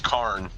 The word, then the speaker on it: Karn: But it's like no no no it's not. It's K silver golem. It's spelled different. It's just K A R N. There's no KH.